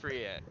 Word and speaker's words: Treant: Trent? Oh, Treant. Treant. Oh, am I saying it wrong? Treant? Sorry. I think it's pronounced Treant.